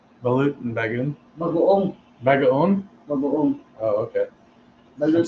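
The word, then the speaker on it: bagoong: Bagoon.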